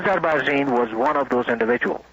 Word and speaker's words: Azarbarzin: Now, one of those Air Force generals was Air Force General Shapur Azarbarzin. Is S-H-A-H-P-O-U-R, and his last name is spelled A-Z-A-R-B-A-R-Z-I-N.